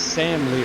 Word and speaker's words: Sam Lanier: interview with him previously it was Sam Lear. The AR is silent. I don't know why they put it on there. Maybe they just had no other place to put it, so they threw it on the back.